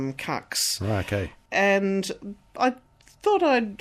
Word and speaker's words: Kucks: in Melbourne and they they're strong on the fact that they've always pronounced it Cox okay and I thought